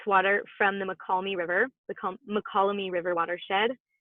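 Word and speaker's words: Mokelumne: its water from the McCalmy River, the McCalmy River watershed. I have heard that Indigenous folks pronounce it Muckalumni, and it means people of the fish.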